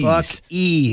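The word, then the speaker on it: Buc-ee's: Oh, so it's a buck like Tampa Bay Buccaneers. E Bucks E.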